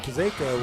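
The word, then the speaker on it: Czaika: 46 yard line so trenton kuzeko with the catch his name is spelled c-z-a-i-k-a you've said his name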